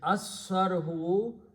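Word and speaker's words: الصَّرْحُ: And when you pronounce, lam is not pronounced, swad is pronounced twice. So it is, and lam kills one dhamma. So it becomes asu sarhu, the palace.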